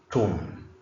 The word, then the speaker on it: tomb: The word is tomb. B is not pronounced.